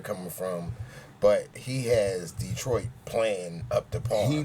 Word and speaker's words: Detroit: Detroit. Well, a lot of the players call it Detroit. You know, they use the wrong syllable.